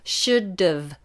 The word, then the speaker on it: should: the bottom lip remember should've should've now should exactly the same as could could be spelled sh-shh you a should there's no L pronunciation there so it's a silent letter should you should have